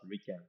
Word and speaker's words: RIKEN: and attach them so this is in Japanese pronounced as Ran So orinary people in Japan call us Rican so then at some point the Rican headquarter